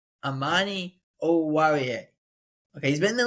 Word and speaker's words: Amani Oruwariye: Amani Oruwariye.